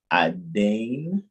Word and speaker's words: Aden: Adin is how it would be pronounced, but some people will say Aden Yemen.